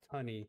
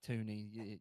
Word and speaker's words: Tunny: Of course, we're gonna go ahead and have Tunny, and it's Tunny, y'all, not Tootie.